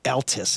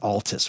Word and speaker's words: Altus: going to send me it's Altus it's not Altis what what do you guys well it's Altus I mean that's how they pronounce it it just means old in German oh German people would person would say Altus okay it's a drum